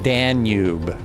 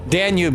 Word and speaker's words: Danube: It's pronounced Danube. Danube, yes it is.